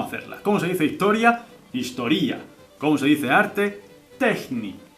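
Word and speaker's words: ιστορία: estudiando historia diría spazo historía Este no es muy difícil la verdad historia Cómo se dice historia en griego historía vale spaso historía estudio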